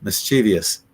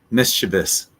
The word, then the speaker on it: mischievous: would you say this I'll tell you the wrong way to say it and I've I'm guilty of this as well mischievous and with me pronouncing it that way it would be more like that mischievous but that ey is not there so it's just mischievous yeah but I'm I'm